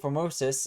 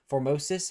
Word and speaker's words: Formosus: who was uh Pope Formosus I I can never say his name right. I've heard so many people say it but I can never say it. Formosis I think is how you say it.